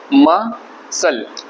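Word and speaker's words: muscle: बोलते उसके बाद मसल म सल आप इसको ऐसे पढ़ते हैं म सल म सल मसल तो मसल पढ़ेंगे इसको और सी साइलेंट है उसके बाद सीजर्स कैची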